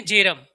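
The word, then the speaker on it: Bjerrum: Bronsted and एक है जेरम। जेरम में बी साइलेंट है बेटा।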